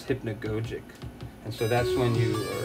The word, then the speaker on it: hypnagogic: I think it's called hypnagogic or hypnagogic. I think the right pronunciation for it is hypnagogic.